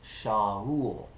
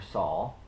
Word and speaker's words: Shaul: blindness he called him brother shahool or saul depending how you want to pronounce that first hebrew letter continuing to utilize the